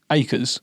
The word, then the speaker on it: Ackers: terms of the pronunciation, so my family pronounced my name acres. Yeah, I can totally see, when you look at my last name. It's acas, until you see that, right?